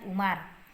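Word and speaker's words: عمر: Sementara jika tidak ada wawnya ini maka dibaca dengan Umar.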